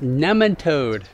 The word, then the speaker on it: nematode: crops to kill nematodes it's pronounced nematode I've heard it pronounced both ways and I've always pronounced it this way I know but soil biologist Dr langingham pronounces it nematode right she does and that's the correct way all right all right